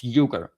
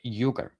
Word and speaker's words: Uygur: Sorry, I keep mispronouncing his name. I don't mean to. Cenk Uygur. It's Uygur. Like yogurt. Uygur.